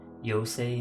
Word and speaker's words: Yose: from an auto mechanical yo say not Yosef yose is the pronunciation oh okay the servoker's